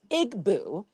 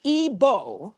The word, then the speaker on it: Igbo: Now, you said that she's Igboo. It's pronounced Ebo.